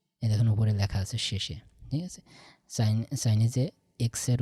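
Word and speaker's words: 谢谢: তো তাইলে পারে এইটা হচ্ছে চাইনিজ সে এই দেখুন উপরে লেখা আছে শেষে, ঠিক আছে। চাইনিজে এক্সের উচ্চারণটা তালে বর্ষের মতো হয়, ঠিক আছে।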